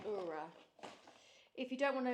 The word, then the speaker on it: Oura: That is definitely how you say it, Oura.